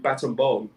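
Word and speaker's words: Battambang: from siem reap to baton bomb as they pronounced it you know you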